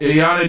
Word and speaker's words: Iyanna: Iyanna Dior is her name, spelled Iyanna Dior, was